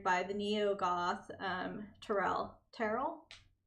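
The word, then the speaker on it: Terl: the Neo Goth um Terrell. Terrell. How do you say this? Tur. Tur. Tur. Like Turl with a T.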